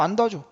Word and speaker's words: 안다: 얘는 기본형이 R이기 때문에 니은 뒤가 아니라고 부르는 거야. 어간 니은이 아니에요. 원래 어간은 R이니까. 그래서 그냥 안다라고 발음합니다.